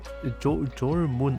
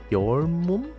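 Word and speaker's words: Jormuntide: I believe the J is silent, like your moon? Oh, so it's your moon tide.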